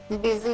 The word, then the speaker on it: busy: They will pronounce it as busy. B-Z, okay, not B-U-S-Y, boo and C, busi.